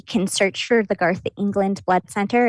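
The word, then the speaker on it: Englund: or loveland they can search for the garth england blood center it's g-a-r-t-h england is spelled e-n-g-l-u-n-d and then there's a link where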